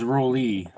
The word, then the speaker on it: Rowell: Yeah, it's actually pronounced Rolly.